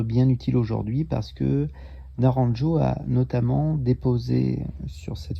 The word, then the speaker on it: Naranjo: Et là, en l'occurrence, je pense à Naranjo, je le prononce à la française. Et ça va nous être bien utile aujourd'hui parce que Naranjo a notamment déposé sur cette figure cosmologique qu'est l'énéagramme les mécanismes de défense.